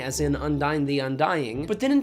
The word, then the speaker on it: Undyne: Like, Undyne is an Undine, but you pronounce her name Undyne because it's supposed to sound like undying, as in Undyne the Undying.